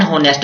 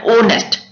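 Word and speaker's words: honest: ही इज एन होनेस्ट मैन होगा, होनेस्ट नहीं पढ़ा, इसको पढ़ा ओनेस्ट, ओनेस्ट।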